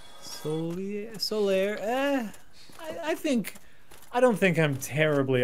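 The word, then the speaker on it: Solaire: Also, Solier. How is it spelled? Hold on. It's S-O-L-A-I-R-E. So it's solar, but with an I after the A and an E on the end. Solier.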